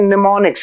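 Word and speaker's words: mnemonics: हम लोग कहते हैं निमोनिक्स क्या कहते हैं निमोनिक्स इसमें एम साइलेंट है मनेमोनिक्स इसका प्रयोग किया जाता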